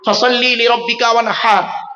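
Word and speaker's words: فَصَلِّ لِرَبِّكَ وَانْحَرْ: মা বোনেরা বাবাজিরা মুরব্বীরা শুনে নিন, ফাসাল্লি লিরাব্বিকা ওয়ানহার, এই গলার ভেতর থেকে এটা উচ্চারণ করবে। হাই হুতি, হাই হাওয়াজ নয়।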